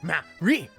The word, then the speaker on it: Maverick: It's pronounced Marie, Monsieur Dujardin.